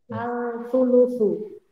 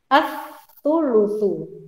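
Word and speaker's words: الثلث: Al-thulutsu. Tapi cara membacanya bukan al-thulutsu, karena alnya tidak terbaca kan? As-thulutsu masuk ke huruf fa-nya.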